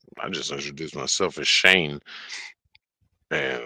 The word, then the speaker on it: Shaynje: I was like, yes, SHAYNJE, and then just stop and look like, what? I'm like, yeah, the J is silent.